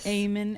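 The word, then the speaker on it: Eamon: It's spelled It's spelled E A M O N.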